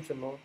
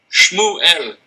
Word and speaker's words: Shmuel: How do you say your name, Shmuel? Shmuel, it's two syllables.